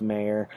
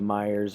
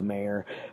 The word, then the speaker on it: Meir: is the uh and it is actually pronounced mayor uh i thought it was meyer's archies archive uh something like that but um it's mayor but either way um